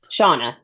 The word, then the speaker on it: Shauna: Cheyenne? Shauna. Yeah. Shauna. I will probably make that mistake again. That's fine. It's spelled a little funky.